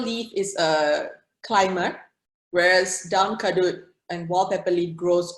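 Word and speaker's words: daun kadut: Arista says, nobody in my wet market knew what down kadut was. Is that how you pronounce it?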